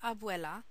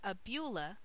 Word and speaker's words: abuela: For example, the word abuela is pronounced abula by Solo.